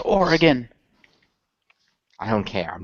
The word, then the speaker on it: Oregon: and directed and performed by Jeff blim it's pronounced Oregon I don't care I'm not of the West